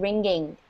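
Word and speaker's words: wringing: despite the popular hand ringing all right so the W is almost silent so it's actually ringing like the ringing of a bell what do you guys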